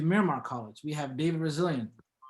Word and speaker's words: Resilient: We have David Resilient, whose last name is pronounced like resilience, as you stated earlier.